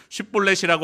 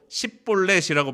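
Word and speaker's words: 쉽볼렛: 이게 큰 강이라는 뜻을 가진 그런 의미를 가진 것이 쉿볼렛인데 아마 에브라임 사람들이 그 발음을 잘 못했던 모양입니다. 사투리를 썼나 보죠. 쉿볼렛이라고 하지 못하고 십볼렛이라고 발음합니다. 그러면 그를 에브라임 사람으로 보고 죽이는 것입니다.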